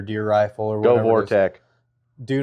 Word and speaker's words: Vortex: Is it Vortec or Vortex? It's Vortex.